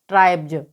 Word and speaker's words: tribes: तो जब वर्ड के लास्ट में BE आए और उसके बाद S लगा हो तो वहाँ पर S का उच्चारण ज होगा। तो TRIBES को हम यहाँ पर क्या पढ़ेंगे? ट्राइब्स।